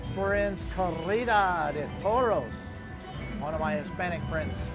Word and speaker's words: Corrida de Toros: Carreta de Toros is how I've been told to say it by one of my Hispanic friends.